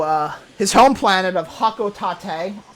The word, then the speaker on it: Hocotate: his home planet of hakot Tate God I hate how it's pronounced and from this point on I will pronounce it hoko Tate on purpose and from there it's